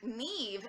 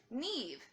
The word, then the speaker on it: Neve: enough trouble just with Nev and it's very phonetic it's I mean n EA ve not Nev Neve rhymes with weave I think we are